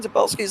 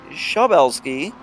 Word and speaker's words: Zabelski: I know we've been doing it somewhat decent with name pronunciation, and I read somewhere that Brian Zabelski's last name is actually Shabelski.